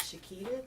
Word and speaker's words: Shaketta: My name is Shaketta. It's Shakeetta.